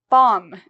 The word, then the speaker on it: bomb: say thumb okay um bomb if you think about a bomb an explosion right bomb again same rule if you have an M you do not pronounce the b so we don't say